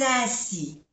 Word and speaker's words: ainsi: Ainsi, A-I-N, es una vocal nasal con 3 letras.